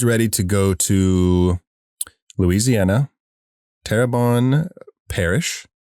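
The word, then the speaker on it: Terrebonne: Tabon Parish. Did I say it right? Terabon. Terabon.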